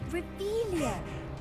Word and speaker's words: Revelio: It's Rebellion. right here, guys. Saying it wrong. Ugh, Revelio. Much better.